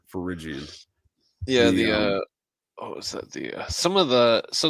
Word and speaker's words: Phrygian: You see, some Finnegan hats. I always mispronounce that. Finnegan hats or Finnegan hats, the Liberty caps. That's a common trope in there as well. Phrygian. Phrygian, there we go. Phrygian.